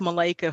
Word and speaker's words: Michaela: thank you elise and it's pronounced malaika for those on the on the call so hi everyone and